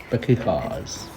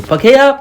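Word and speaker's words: Pākehā: But now, the tribes could trade game, sweet potatoes, and other foods to the Pakehas.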